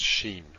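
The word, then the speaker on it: שין: If it's on this side, it's sheen, pronounced sh.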